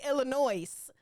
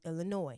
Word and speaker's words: Illinois: Do not say Illinois. The S is silent, okay? Oh my goodness. Illinois is pronounced Illinois, not Illinois. Illinois is pronounced Illinois, not Illinois. The S is silent in Illinois.